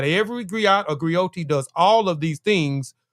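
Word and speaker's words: griotte: So, what is a griot and a griotis? A griot and a griotis is unique to Western Africa. The griot or jelly professional encompass many roles. The griot or the griotis, pronounced griot or grioti, have been referred to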